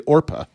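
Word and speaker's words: Orpah: Orpa, but it was so commonly mispronounced as Oprah that it stuck.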